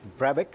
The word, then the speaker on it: Brabec: May twenty twenty we are here with Ricky Brabeck is that right yeah that's how you pronounce it he's the winner of the 2020